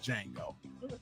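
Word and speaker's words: Django: I know that it's pronounced Jango, but I like to say cut on the Jango.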